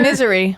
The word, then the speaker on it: Missouri: Misery. We're in misery. How do you... I am in misery. That's actually how they pronounce it. Misery, I think. I thought it was Missouri.